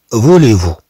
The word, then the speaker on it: voulez-vous: عندنا هنا مع فو، إذن نضيف هاد زد وتنطق أي كما عندنا هنا.